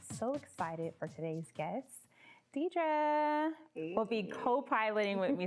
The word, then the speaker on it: D'Dra: to get even more creative to get it pronounced correctly but it's deidre just deidre and where are you from um